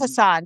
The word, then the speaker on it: Hassan: Yeah, it is Hassan, Dr. Stephen Hassan.